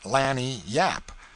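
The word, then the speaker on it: lagniappe: limber expressive handy word lanap they pronounce it Lanny Yap it is Spanish so they said we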